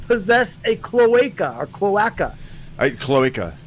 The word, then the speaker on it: cloaca: Cloaca.